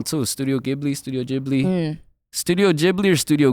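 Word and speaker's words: Ghibli: be saying it wrong too studio gibl studio jibli studio jibli or Studio gibli ji had it right the whole time bro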